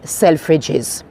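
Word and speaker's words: Selfridges: the blue this is selfes selfes with no apostrophe uh it is spelled with um with the S no apostrophe it's one of our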